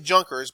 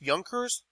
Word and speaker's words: Junkers: right the nobility recall Yonkers okay so it looks like Junkers but it's pronounced Yonkers okay now I'd be